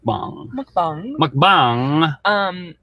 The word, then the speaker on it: mukbang: to read your phonetics it's mukbang say it correctly mom look bong you like speak through your nose I think it said